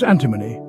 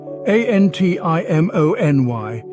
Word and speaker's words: antimony: pullets young female chickens our next word is antimony a n t i m o n y antimony a chemical element with the symbol SB